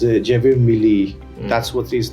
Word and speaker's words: Javier Milei: ابھی جو current president ہیں ارجنٹینا کے, جیویر میلی, apparently if I'm pronouncing it right or wrong, it's Javier Milei, that's what his name is.